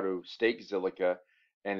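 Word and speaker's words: Zilliqa: so today's coin is silica often abbreviated by z-i-l because silica is hard to spell it's z-i-l-l-i-q-a it's a play on the word silica um i don't really get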